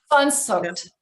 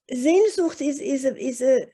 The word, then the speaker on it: Sehnsucht: Sehnsucht. So, oh, I'm sorry. Yep. Sehnsucht. Sehnsucht. Ah, my Portuguese is not is not up to it. Sehnsucht it's a very strong desire for it's almost